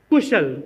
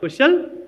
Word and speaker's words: Kushal: Kushal. Kushal, not Kushal.